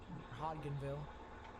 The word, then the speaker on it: Hodgenville: rinville probably henville hly it could be Hodgenville Hodgenville where the D is silent I apologize if I